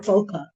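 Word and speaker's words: Boca: So I I But so the people in the in who live there call it bokeh. So just say bokeh.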